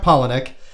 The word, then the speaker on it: Palahniuk: very hard to spell very hard to pronounce but i heard him say it it's chuck palahniuk uh he got ten